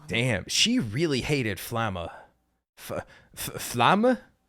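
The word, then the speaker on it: Flamme: Flamma? I was told that it should be like you pronounce the E at the end of Flam.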